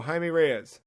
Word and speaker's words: Jaime Reyes: I didn't realize it was I guess that's Spanish, right? Because J's are H's and yes.